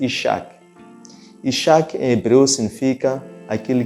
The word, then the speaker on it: Isaac: E que esse filho espiritual eles iriam dar de nome Isaac, que em hebreu pronuncia-se Ishak.